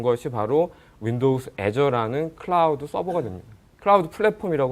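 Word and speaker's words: Azure: 발음하기 좀 어렵긴 하지만 윈도우 애저 또는 뭐 일본 사람들은 아주르라고 읽더라고요. 그 다음에 뭐 영국이나 뭐 미국 하면 약간씩 발음이 좀 틀리긴 한데 그냥 한국적인 발음으로 애저라는 표현을 하겠습니다.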